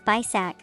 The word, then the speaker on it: BISAC: For example, the academy uses BISAC or book industry standards and communications. Get it? It sounds like the word basic dot.